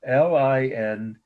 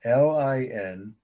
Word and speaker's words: Lindisfarne: Page, of course, you all know how to spell that. Lindisfarne is the city in England where it came from. Lindesfarn. Again, Lindesfarn.